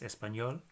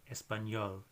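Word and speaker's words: español: squiggly line on top so that's an NY sound so the classic word with that letter in it is espanol which is the name for Spanish the Spanish name for Spanish Spanish in Spanish so that's got an N with an squiggly line on top espanol and Y sound q we don't say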